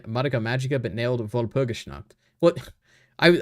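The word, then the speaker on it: Madoka Magica: How did this guy mess up pronouncing madaka magika but nailed vulpishna? What? I I was reading it in the Japanese way. Maka magika is the correct pronunciation because that is how it is pronounced in Japanese.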